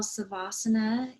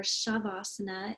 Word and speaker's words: savasana: place to lie down we're going to be going into what we call savasana in northern india or shavasana in southern india so violet pronounces it differently i pronounce it savasana sometimes called corpse pose